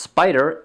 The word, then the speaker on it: SPDR: The second fund to suggest is the SPDR, pronounced Spider, S&P 500 ETF Trust, symbol SPY.